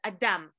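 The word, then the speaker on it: אדם: no clothes adam right in hebrew it's adam built of two syllables encompasses the spirit without inside of us within us it's where our soul resides that's why it doesn't have a strong ending a strong consonant because it's eyes open as much as spirituality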